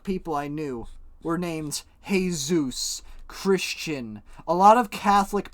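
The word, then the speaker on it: Jesús: couple jesus which is basically jesus in spanish but it's pronounced jesus and uh in fact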